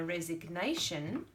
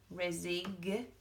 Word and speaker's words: resignation: that G but then I hand in my resignation resignation and I can feel the Chi again who's gonna check the